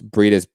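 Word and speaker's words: Briedis: hard like names to like spell out and pronounce breed is b-r-i-e-d-i-s okay it's only like three rounds go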